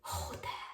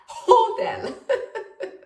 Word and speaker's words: hotel: la nostra parola albergo però è l'unica parola in cui pronunciamo l'h con la sua aspirazione hotel hotel e poi come secondo